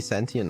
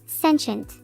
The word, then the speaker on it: sentient: Be sentient, I guess. Okay. I how would you say that? I can't even pronounce it. Sentient. Oh, sensient.